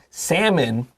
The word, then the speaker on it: salmon: So smoked salmon, salmon is often used with cream cheese and capers for a savory brunch.